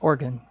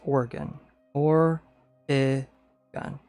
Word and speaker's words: Oregon: a little bit, but it's it's still not how people around here say it. Oregon. And you just say it fast. organ. I guess it's not really a Y, is it? It is kind of like an E cuz it gets really silent. Oregon or gun. Yeah, it's more of an E.